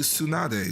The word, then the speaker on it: Tsunade: And then, like, you know, the DE at the end tends to be its own syllable in a lot of Japanese names. Like, or actually Tsunade.